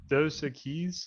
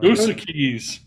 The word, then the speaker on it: Dos Equis: guess How what do you number- pronounce that, Parker? Dos Equis? I don't know. Dos Keys.